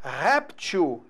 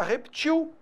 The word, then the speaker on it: réptil: projétil está vendo beleza a palavra réptil é o que a gente mais usa né réptil réptil placar até pra lá só que a gente também tem a palavra repetiu é o mesmo sentido é simplesmente uma variação de pronúncia está a mesma coisa